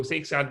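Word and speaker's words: Szekszárd: very easy because s-c-e is se okay so sake that's very easy to pronounce all right six are wine tasting so six out that's the place where we are going and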